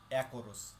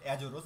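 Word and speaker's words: Açores: আরেকটি দ্বীপপুঞ্জ, যার নাম অ্যাকোরোস। এই যে দেখতে পাচ্ছেন, এটি হচ্ছে অ্যাকোরোস দ্বীপপুঞ্জ। এটা দেখতে পাচ্ছেন এখানে লেখা আছে অ্যাজোরোস, এটা হচ্ছে ইংলিশ উচ্চারণ, সঠিক উচ্চারণ হবে অ্যাকোরোস, এটি পর্তুগিজ শব্দ, এটি এখনও পর্তুগালের অধীনস্থ।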